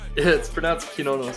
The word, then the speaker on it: Cernunnos: It's pronounced Cernunnos, but it's not.